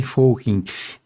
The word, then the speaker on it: Fockink: meu nome ser fing eh uma É porque a minha mãe me chamava de A outra porque é pronúncia holandesa e a e a